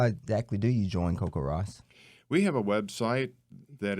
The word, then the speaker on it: CoCoRaHS: cool and so how exactly do you join Coco Ross we have a website that is ww CoCoRaHS